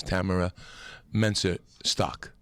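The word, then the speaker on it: Tamyra Mensah-Stock: The correct pronunciation, Tamara Mensa Shaw? Stock. Yeah, the young lady, the young Olympic champion wrestler who won gold and draped herself in the flag. Her name is Tamara Mensa Stock.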